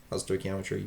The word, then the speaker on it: stoichiometry: Stoichiometry, you pronounce it stoichiometry.